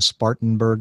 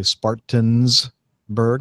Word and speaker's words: Spartanburg: Carolina instead of saying Spartanburg they say Spartans burg they put an S in there which is not right or they leave the